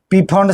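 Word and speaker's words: Pfund: पांच नंबर में आता है पीफंड सीरीज। पी साइलेंट होता है। बोलते हैं कि फोंड सीरीज।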